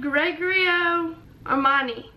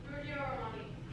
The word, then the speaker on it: Giorgio Armani: It's like Gregorio Armani. Oh, Giorgio. Giorgio. Giorgio Armani.